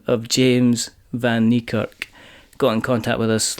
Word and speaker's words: Van Niekerk: so as I say joining me is James Van nerk um so hello James hello you nailed the pronunciation that's cuz I've written out phonetically perfect